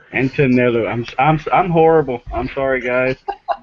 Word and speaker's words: Antonello: And it's pronounced Antonello. Antonello.